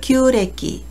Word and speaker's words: 旧暦: 음독은 규라고 읽습니다. 구식을 규식기, 규식기라고 하고요. 음력을 규래기, 규래기라고 합니다.